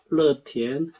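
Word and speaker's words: 乐天: 거기에다가 롯데라는 발음과 이 낙천의 중국어 발음이 거의 비슷해요. 러티엔 낙천입니다.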